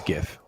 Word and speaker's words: GIF: Yeah, it's a hard G. It's GIF.